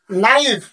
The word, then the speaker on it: knife: নাও, KNOT, নট, KNIFE, নাইফ। আমি কিন্তু কে নাইফ কিংবা ক নাইফ এই ধরনের কিন্তু ভাষা বলিনি, শুধু নাইফ বলছি। তার মানে কে এর পরে এন থাকলে কেটা কি হয়ে যায়? বাদ হয়ে যায়।